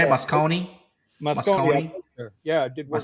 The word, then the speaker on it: Moscone: Oh, that's how you say it, Moscone?